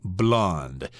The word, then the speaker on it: blonde: l n d but if we're talking about the color of a girl's hair then you add an e to it but they're pronounced the same blonde okay let's move on